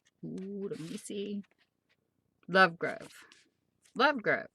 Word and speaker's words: Lovegrove: book number ten age of aztec by james lovegroft lovecroft lovegroft is that a g oh let me see lovegrove lovegrove said it wrong so this is a